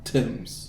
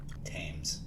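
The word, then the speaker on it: Thames: Tims. Tims. Tames. Tames. That would make more sense than Tims, the way it's spelled.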